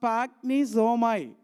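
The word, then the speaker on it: σπλαγχνίζομαι: So the Greek word spagnisomai, it pronounced as spagnisomai.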